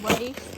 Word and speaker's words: Leif: his name is Leif, spelled the Viking way. Technically pronounced Leif, but I say it Leif because I feel like it's easier.